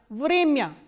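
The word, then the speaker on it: время: Vremya. Vremya is time. So, here this ya is coming in an unstressed position, that is why it is pronounced as ya, not ya.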